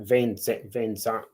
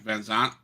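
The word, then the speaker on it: VanZant: Van Zant. Yeah, Van Zant.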